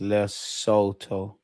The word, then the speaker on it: Lesotho: It's pronounced Lesotho.